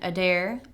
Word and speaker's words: Adair: Adair. A D A I R as in I dare you to say my last name wrong.